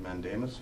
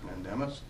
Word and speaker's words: mandamus: the order of I don't know how to pronounce the word what is it mandemus mandemus yep I have that in front of me